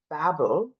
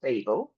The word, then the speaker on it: Babel: Oh, I enjoyed Babel or Babel, depending on your pronunciation, by R.F.